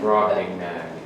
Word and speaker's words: Brobdingnag: Anyone want to try pronouncing it? Brobdingnag.